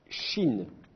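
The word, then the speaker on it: שׁין: a pas de souci cette lettre s'appelle Chine comme le pays la Chine alors dans l'alphabet latin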